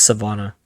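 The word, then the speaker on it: Sivana: pronounce It's Savannah.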